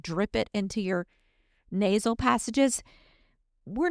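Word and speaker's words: nasya: It comes from the Arveda world and it's called NASA oil. I'm going to spell it for you in case my southern accent does not translate well for you, but it's N A Y SA.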